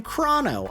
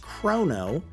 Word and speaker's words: Crono: Yes, I'm going to call him Crono. I know there are people who think it's pronounced Chrono.